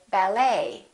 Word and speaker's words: ballet: health we say half silent t the silent t very frequently happens in words that are originally french for example the word ballet that has the et ending and in the french language the t is almost always silent so english speakers pronounce it the same way we don't say ballet we say ballet a few more e.t